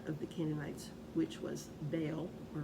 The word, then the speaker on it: Baal: the Canaanites, which was Baal or Baal. I prefer to pronounce it Baal. According to some Bible dictionaries, it can be pronounced either way, so you got Baal with me.